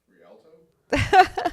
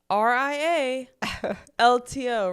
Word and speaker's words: Rialto: How would you pronounce that? R I A L L T O Rialto.